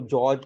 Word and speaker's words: गेज: उसके बाद इसको जॉर्ज चार्ट भी बोलते हैं, गेज चार्ट भी बोलते हैं, मतलब दोनों भी प्रोनाउंसिएशन इसके लिए यूज होता है, गेज चार्ट और जॉर्ज चार्ट भी यूज होता है।